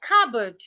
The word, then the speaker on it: cupboard: Another example is the word cupboard. A lot of people pronounce the word as copboard. The P in the word is silent.